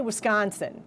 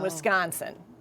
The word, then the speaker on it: Wisconsin: most of it, but my husband always tells me I don't say Wisconsin properly. How are you supposed to say it? I say Wisconsin and he says there's no G in Wisconsin.